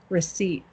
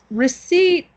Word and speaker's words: receipt: remembered from last week receipt and receipt is also kind of like knelt we don't we don't say every letter in receipt okay so what is